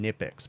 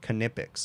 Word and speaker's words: Knipex: a canipix employee called them nipix but most of the videos you'll see they do pronounce the k canipix okay it sounds silly but that's actually how they're supposed to be or how they pronounce it in germany or wherever it's made but anyways going off